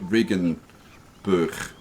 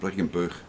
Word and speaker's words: Regenboog: See, the G is a ch sound, so it's going to be like Regenboog, or something like that. Regenboog, something like that.